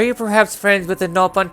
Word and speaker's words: Nopon: You pronounce Nopon. You pronounce it Nopon over here. We say it with a short vowel.